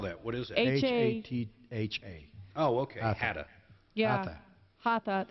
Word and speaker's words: Hatha: How do you spell that? What is it? H-A-T-H-A.